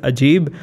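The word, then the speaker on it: عجيب: Urdu and Arabic is Ajeeb. In Arabic, it's also Ajeeb. Yeah, it's Ajeeb. Yeah, with an ayn.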